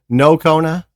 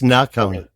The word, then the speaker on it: Nocona: Cuz some people might say Nocona, but it's Nacona.